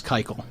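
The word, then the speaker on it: Keuchel: Dallas kyel and I did find the correct pronunciation it is Dallas kyel yeah someone walked up to me and was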